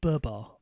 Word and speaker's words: Babar: No, I thought it was Barbar. In fact, I did write it as Babar. I pronounced it wrong in the intro.